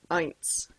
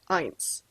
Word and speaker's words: eins: our first number is one and that is pronounced eins can you say that with me eins and then over on the right side we'll